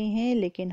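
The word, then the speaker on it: whole: यहाँ पे भी W की साउंड जो है वो साइलेंट है. Silent letters are दोज letters which we write but we can't pronounce. ठीक है, we can't speak. Silent letters वो होते हैं जो हम लिखते हैं लेकिन हम पढ़ते नहीं है. ठीक है, so this is होल, होल.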